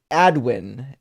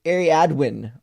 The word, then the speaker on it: Ariadwin: Uh, Ardwin, Ariadwin, it says is pronounced Ariadwin. Love you. Oh, so it's actually pronounced exactly the way it's spelled.